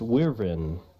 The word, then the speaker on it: wyvern: Hey, how do you pronounce wyvern?